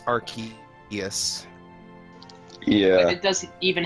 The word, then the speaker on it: Arceus: canon English pronunciation is Arceus.